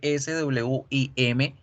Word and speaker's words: swim: Nadar, el verbo nadar se escribe S-W-I-M. Generalmente cuando empezamos a aprender, por lo menos yo decía swim porque trataba de hacer la W como la G y la U, swim, y no es swim, swim, swim.